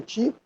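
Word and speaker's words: 手: Antes disso, em Ryukyu, a pronúncia da arte era Ti, não T.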